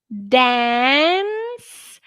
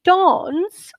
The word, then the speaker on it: dance: waved correct good guys next dance in american english dance and dance in irish we also say dance in british english we would say dawns okay so guys if